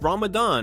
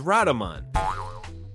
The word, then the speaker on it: Ramadan: scheme and laughing his ass off after he pronounced Ramadan as Radaman.